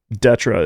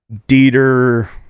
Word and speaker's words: DÊTRE: Yeah, so, yeah, Detra is how it's pronounced, but I get Dieter. Deter. I get Dieter a lot.